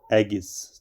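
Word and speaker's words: Aegeus: क्या इसको कैसे प्रोनाउंस करेंगे आप? एगिस।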